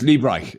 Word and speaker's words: Liebreich: Yes, I can never say his name properly. I know. It's Liebreich. He says Liebreich.